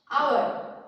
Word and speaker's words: hour: For example, our, H-O-U-R. It starts with a consonant, but this H remains silent, and so when we pronounce it comes as O-U-R.